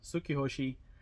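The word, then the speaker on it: Tsukihoshi: personal item are these Suki hosi yeah that's right I said it right sukki hosi um shoes kid shoes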